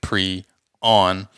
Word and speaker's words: prion: So that's what I found anyway in my research, and it's pronounced pre-on.